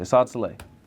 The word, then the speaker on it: Assad: Assad s that's crazy most people don't pronounce my name correctly he n he pronounced my name correctly Assad how you say [